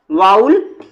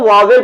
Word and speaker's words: vowel: इसका प्रोनाउंसिएशन पर ध्यान दीजिएगा क्योंकि बच्चे इसको वावेल पढ़ते हैं, तो आज से हम वावेल ना कहकर इसको हम वाउल कहेंगे। क्लियर बच्चों? इसका शुद्ध प्रोनाउंसिएशन आपका वाउल है, न कि वावेल है।